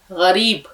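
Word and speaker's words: غریب: बहुत बोलते हैं लेकिन उसका उच्चारण गरीब गैन की आवाज आप लोग निकालेंगे तो उसने एक गरीब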